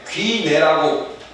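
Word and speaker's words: γύναι: 여인이라는 말은요 그 당시에 귀내라고 발음이 되는데요.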